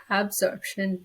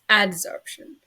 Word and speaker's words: adsorption: something called adsorption and no I didn't say it wrong it's not absorption it's adsorption and adsorption is the